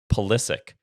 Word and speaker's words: Pulisic: Pulisic.